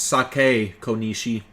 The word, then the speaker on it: Saki Konishi: local high school student saki konishi was found dead in Ina's residential area you're saying it wrong it's sake Kishi since the body was positioned similarly to the